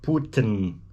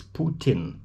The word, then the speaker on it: Putin: guy but it's just american speakers cannot seem to grasp how to pronounce the name of the guy it's not putin it's putin putin brits got it french got it canadians got it putin putin anyway one american